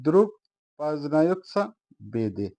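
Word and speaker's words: Друг познаётся в беде: রাসায়ন ভাষায় বলছি দ্রুক পাজনিয়ত বেদে আবারো বলছি উচ্চারণ হবে দ্রুক পাজনায় বেদে দ্রুপ বাজনায়েত বেদে এর অর্থ হবে বিপদের বন্ধুই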